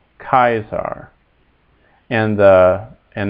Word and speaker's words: Caesar: us a and e a a is is in English like the like the first vow in Isle and so that's kaisar kaisar not Caesar uh cuz the C is always hard in Latin makes a